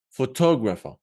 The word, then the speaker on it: photographer: We're gonna place the stress on tog, yeah? Photographer, yeah? Because it is where the apostrophe is.